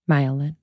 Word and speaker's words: myelin: talk about a time when there is more myelin, is that how do you say it? Myelin. Yeah. Myelin.